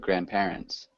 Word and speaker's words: grandparents: repeat grandparents grandparents yeah instead of grandparents um just the emphasis on the first sy so a a fern